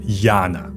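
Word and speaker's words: यान: 在佛教中，大乘佛教和小乘佛教中的乘，梵语念作 Yana，意思就是交通工具。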